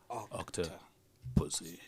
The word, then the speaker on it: Octopussy: No, you don't say it like that. You say Octopussy. Anyways. So that just happened. You stress on the second part of the word, Jack.